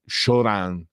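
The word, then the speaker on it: Cioran: effetti francese tant'è che preferiva che il suo cognome venisse pronunciato shoran alla alla francese e anche lui aveva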